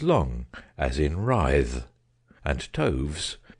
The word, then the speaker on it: toves: as in rise and Toves is pronounced so as to rhyme with groves again the first Oh